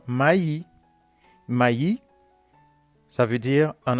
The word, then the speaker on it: maïs: Et aussi, vous trouvez aussi la prononciation du I tréma comme yi dans maï.